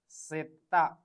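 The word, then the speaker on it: zeta: Last is Z. Setta. The pronunciation of word Z is setta.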